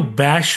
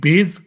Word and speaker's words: bass: বহু জায়গায় শো করেছি কেউ ব্যাস বলে কেউ বাস বলে হ্যাঁ কেউই বেস কথাটা উচ্চারণ করতে পারে না বাঙালিরা এই বেস গিটার